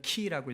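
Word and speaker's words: Χ: 그리고 X로 생긴 건 키라고 읽는데 크리스투스, 그리스도를 말해요.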